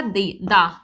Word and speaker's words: the: पहले यूज करना है तो तब हम इसको प्रोनाउंस करेंगे दा होप ये तो समझ